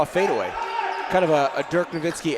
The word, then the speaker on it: Dirk Nowitzki: viewers I actually want I want to pronounce that correctly it's Dirk Nowitzki not dead that was the American pronunciation there they're gonna called